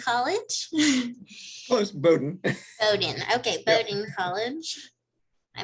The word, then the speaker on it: Bowdoin: let's see if I can say this right, Bedoin College. Close, Bowdoin. Bowdoin, okay, Bowdoin College. I make up my own pronunciations.